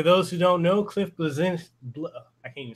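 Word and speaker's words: Bleszinski: Do you think Cliffy B, or for those who don't know, Cliff Blazinski, I can't even say his name. Blazinski.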